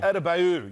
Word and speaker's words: Adebayo: Yes, Bam, how do you pronounce his name? I have to read it now. Adebayo.